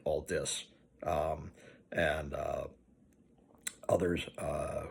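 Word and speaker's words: Aldiss: and Rogers alazne and Brian Alis and yes that's the correct way to pronounce it Al dis um and uh others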